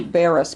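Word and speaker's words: Barras: can pronounce this right margarite how do you pronounce s i l sigle sigle corbo c o r b o and Diane Marie Baris b a r r a s so just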